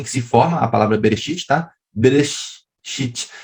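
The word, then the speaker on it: בראשית: se forma a palavra bereshit tá beleza chips a letra Alef não se pronuncia lembrar que só para você saber que pula né então aqui Heber City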